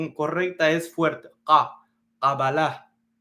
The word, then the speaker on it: Kabbalah: Kabal es con una kaf, ka, un sonido fuerte, gutural, pero la mayoría de las personas lo pronuncian con un sonido suave, Kabbalah, pero realmente la pronunciación correcta es fuerte, ka, Kabbalah.